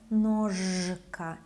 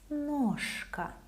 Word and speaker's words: ножка: Voiceless K makes letter Ž lose its voice, so it sounds as its voiceless counterpart. Ножка, ножка. It's not ножка, it's ножка.